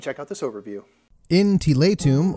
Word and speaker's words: Tiletum: out this overview in tilay Tomb or as many people will mispronounce it tillitum one to four players